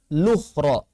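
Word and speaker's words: الأخرى: Wala malukhra, cara bacanya lukhra.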